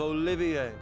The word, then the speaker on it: Olivier: am the drifting poet and seeker of love olivier olivier he wouldn't do for passerby to mistake